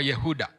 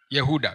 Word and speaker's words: Yehuda: Ah Yuda Iskariot au tuseme Yuda jina lake eh kwa kihebrania au kwa lugha yao linatamkwa Yehuda. Yehuda kwa kirania inatamkwa Yehuda. Lakini sisi katika kiswahili tunaliita eh Yuda.